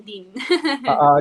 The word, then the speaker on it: Dean: Pwedeng Dean, pwedeng Dayan. Pero para Okay. one syllable lang, Dean.